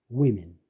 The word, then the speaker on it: women: O가 E로 발음돼. women, pretty, year, near.